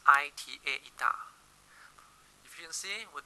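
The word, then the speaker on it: eta: of energy therefore the efficiency symbol yah pronounced I ta da if you'll see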